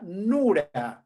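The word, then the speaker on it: נור: evita del término fuego en arameo se pronuncia nur de dónde viene el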